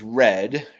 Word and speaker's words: read: Uh, and then finally, I note um an epigenet is red pronounced like the color r e a d.